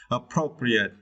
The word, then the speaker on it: appropriate: and for this verse you need to stretch the second syllable Pro okay appropriate okay appropriate is mean